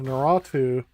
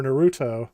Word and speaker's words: Naruto: a carbon copy of naratu or naruto sorry i always say it wrong naruto ninja storm it plays